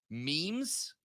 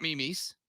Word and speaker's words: memes: Ladies and gentlemen of the previous generations, it is memes, not memes.